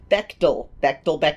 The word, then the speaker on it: Bechdel: And The main person who I mispronounced her name the entire intro, and I am so sorry. Bechdel.